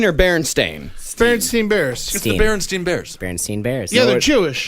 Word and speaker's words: Berenstain: a kid is that Berenstein or Berenstain bernstein bears the berenstain bears Berenstein bears no Jewish no it is not it is berenstain bears it is spelled ber e NS t AI n Berenstain what if I said